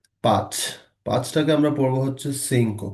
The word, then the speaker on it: cinco: পাঁচটাকে আমরা পড়বো হচ্ছে সিঙ্কো।